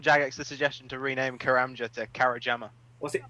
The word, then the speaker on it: Karamja: I it was like I used to think karamja was kajama because I couldn't read it properly I was like oh